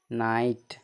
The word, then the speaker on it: night: NIGHT, GH है उसके अंत में है, इसके बाद क्या है, T है ना, इसका उच्चारण GH का उच्चारण नहीं होता है, तो NIGHT, नाइट, ठीक।